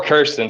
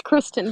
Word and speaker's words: Kristin: you feel about that or kirsten sorry if i've been saying your name wrong this whole time it's kristin but no yes so